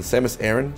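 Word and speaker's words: Samus Aran: you see samus aaron the samus aaron same as iran how to pronounce samus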